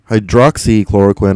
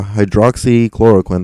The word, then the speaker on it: hydroxychloroquine: mectin or hydro uh hydroxychloroquine actually that's how you pronounce that uh hydroxychloroquine that's a long one are effective treatments for covalent 19.